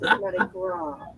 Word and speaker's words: Mardi Gras: It's Mardi Gras. That's all right. Just the way I pronounce it, it just sounds like something slightly different here. No, you don't pronounce the S.